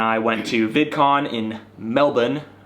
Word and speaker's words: Melbourne: went to VidCon in Melbourne or Melbourne as I like to say but Australians hate Melbourne yeah it's spelled Oh